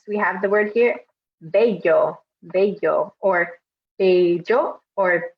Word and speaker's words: bello: several other videos, that this double L has some different pronunciations depending on where you are in the Spanish-speaking world. So we're going to, but I'm going to say it as bello just to keep it simple.